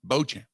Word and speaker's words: Beauchamp: their choice mar uh what was it marjon beauchamp is the uh proper pronunciation yep marjan bojan just making sure they get guys with uh